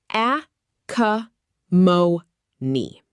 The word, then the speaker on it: acrimony: Acrimony. Pronounced a cuh mo nee.